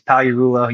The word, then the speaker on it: Pagliarulo: So Tom Pag on Instagram, but the G is silent. You're going to say it in a big audience if you're trying to say the whole thing, it's Pagliarulo.